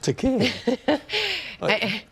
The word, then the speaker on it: Takei: Rhymes with Takei. It's a game, isn't it? Oh, okay, I'll play. Day, Takei, May, Takei, say, Takei, gay, Takei.